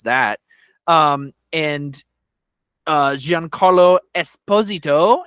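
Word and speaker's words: Giancarlo Esposito: that um and uh Jean Carlo Esposito is how you say his name so now now we're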